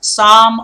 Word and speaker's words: psalm: the psalm of life pay attention to this word guys sum of life there is a silent P and there is a silent L in the spelling well that's English for you the spelling is five letters and then two of those letters are silent some of life and